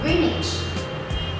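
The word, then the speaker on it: Greenwich: pronounce it correctly too it looks like green and wit but no it is pronounced as greenage you see it's very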